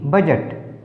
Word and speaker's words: budget: BUDGET बजट, D silent.